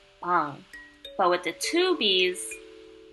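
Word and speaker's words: 빵: As you can see, the English spelling I put right here has a double B, and I did not stutter. It's supposed to be like that. It's supposed to be a B with emphasis. See, I didn't lie. There's two B's right there. These double B right next to each other would make a harder sounding B.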